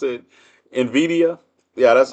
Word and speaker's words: Nvidia: matter cuz I pronounce it how do I pronounce it Nvidia yeah that's how I pronounce it Nvidia that yeah it's no it's no vow between the n and the V so it's Nvidia Nvidia yeah re remember right right new Bitcoin I'm